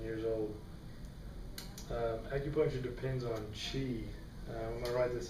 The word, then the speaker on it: qi: old acupuncture depends on chi i'm going to write this up here because this is a chinese word um it said qi but it's spelled q-i and it consists of